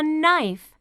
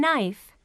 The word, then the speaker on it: knife: learn this is a knife what's the beginning sound in knife that's right knife can you hear the k sound in knife no that's right the k is silent knife this boy can